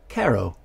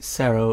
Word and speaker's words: CERO: video game government so kesa also made cairo or maybe cerro if you want to use a soft c for this name and cerro stands for